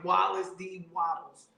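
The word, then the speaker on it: Wallace D. Wattles: by wallace d wilds his name is funny wallace d waddles that's how you say his name she didn't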